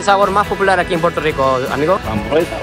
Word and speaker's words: Puerto Rico: Cuando yo digo Puerto Rico, así lo pronuncio la palabra, pero ustedes lo dicen un poco diferente. Puerto Rico. Puerto Rico. Puerto Rico. Como casi como un L.